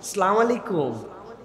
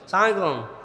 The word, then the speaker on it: আসসালামু আলাইকুম: আসসালামু আলাইকুম, সুন্দর না শুনতে? বিরাট বিরাট লোকজন দেখবেন এরকম করে সালাম দেয়, সালামালাইকুম, সালামালাইকুম, আসসালামু আলাইকুম।